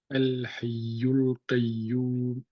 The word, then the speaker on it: الحي القيوم: Lui, on ne le prononce pas la kulli hal, c'est Hamzatul Wasl. On le prononce qu'au début. El. Ah oui, c'est El. vrai. Ici, tu ne le prononces pas. El Hayyul Qayyum. Naam. Al-Hayyul Qayyum.